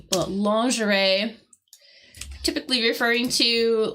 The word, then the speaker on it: lingerie: And notice how I'm pronouncing that word, because I know it is spelt completely different from the pronunciation. But lingerie, typically referring to, like, you know, underwear, basically women's underwear, right?